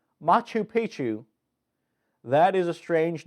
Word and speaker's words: Machu Picchu: two one you got to guess it is makuu pika whoo pepper ooh it is the MA Koopa